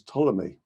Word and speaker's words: Ptolemy: be traced back to the greco-egyptian scientist claudius ptolemy the pea is silent as in the swimming pool ptolemy referred